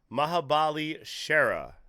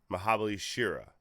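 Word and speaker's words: Mahabali Shera: up but we have mahabali Sher is that does that pronounce the last name Sher it's a it's a mahabali Shir mahabali Shira all right according to juice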